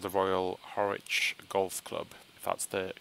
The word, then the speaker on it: Harwich: and he's ported it over, called the Royal Harwich Golf Club. That's the correct pronunciation.